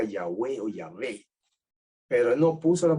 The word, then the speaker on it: Yahweh: el nombre sagrado que se sabemos que se pronuncia Yahweh pero él no puso las vocales de yahvé